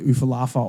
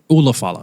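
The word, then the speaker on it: Ula Fala: to win and you're going to put the Ufalafa on me. the Oompa Loompa. The Ufalumpa on me. The Ulafala.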